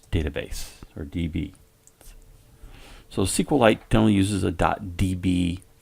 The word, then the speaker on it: SQLite: light by the way sequel light is spelled with only one L so it's almost really SQLite but we generally refer to it as sequel light we're gonna click OK